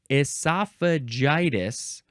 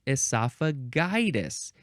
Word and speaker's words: esophagitis: It is esophagitis, or you can say it esophagitis. Either pronunciation for that G is fine. So don't go yelling at people if they say esophagitis, but you like esophagitis.